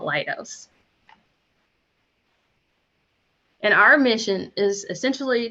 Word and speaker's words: Leidos: all kind of ways lido's this that is part of kaleidoscope and um it's so we find solutions from multiple angles that is where it comes from so it's called lightos and our mission is